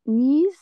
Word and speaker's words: knees: Alors, le K, on ne le prononce pas. On dit juste knees.